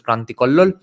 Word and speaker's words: Kranti Kallola: Again, a huge footnote says from Gavade's work on Savarkar, other examples are Joshi, his work called Kranti Kallola. In Bengali, it would be pronounced as Kranti Kollol.